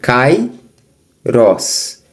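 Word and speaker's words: καιρός: Então, cair, o você tem aqui cai rós, o alfa com iota formam de tongo na palavra cai, no na sílaba cai. Então você tem cai, eles não se separam.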